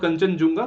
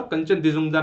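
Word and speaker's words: Khangchendzonga: ठीक है, नोट कंचनजुंगा, कंचन दिजुंगदा नाम है।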